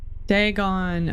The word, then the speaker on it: Dagon: ancient Philistine Legend of Deon the fish God degon okay that's how you say it the fish